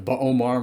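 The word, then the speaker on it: B'omarr: I really like the buar monks or the Bomar monks as we should call them I think the name has been pronounced both ways and when we see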